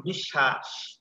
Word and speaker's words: বিশ্বাস: যেমন বিশ্বাস, দেখো তালবসায়ের সাথে বফলা যুক্ত হয়েছে না, এই যে দেখতে পাচ্ছ? জি, জি, জি স্যার, দেখতে পাচ্ছি। আর এই বর্ণটি দুইবার হয়েছে, তালবসা তালবসা দুইবার উচ্চারণ হয়েছে।